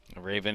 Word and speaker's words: Raven: That's number 32, Colin Raven, like the bird, according to my pronunciation guide here. He's a junior out of Charlotte, North Carolina, Providence Day School. Raven, a 235 hitter, 8